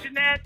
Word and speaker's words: Janette: your name jeanette yeah can pronounce the t like that yeah okay jeanette okay you know what